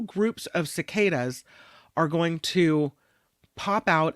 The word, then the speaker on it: cicada: We've talked a little bit about this before, cicadas, and I always say it wrong. I think I usually say cicada. It's a cicada. They're coming, these cicadas.